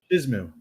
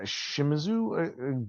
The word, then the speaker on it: Shimizu: I couldn't pronounce his name the whole time. I kept writing sheets. Shizmu. Yeah, Shimizu.